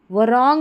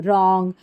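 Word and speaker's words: wrong: यहाँ पर ये जो W है इसको हम प्रोनाउंस नहीं करेंगे, इसको वराइट नहीं राइट पढ़ते हैं, वरॉन्ग नहीं रॉन्ग।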